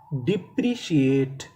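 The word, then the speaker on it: depreciate: CIA, CA। TE, इसे पढ़ेंगे टा, क्योंकि आखिरी में हमें ई का उच्चारण नहीं करना। तो मीनिंग क्या बनी? डिप्रिशिएट, डिप्रिशिएट।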